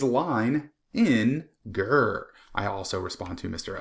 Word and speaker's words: Leininger: My name is Leininger. If you look up here in the corner, you can see how to pronounce my name. It is Line in Ger.